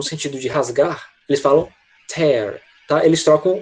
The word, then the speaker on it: tear: Eles geralmente tendem a diferir na pronúncia. Quando eu quero dizer essa palavra no sentido de lágrima, eles falam tear, com som de I, né?